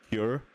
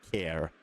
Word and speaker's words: Kier: I have actually had to Google how to say his name because I thought it was just Cure, but it's actually Care. Yeah, so Gabriel Care is how you say his name.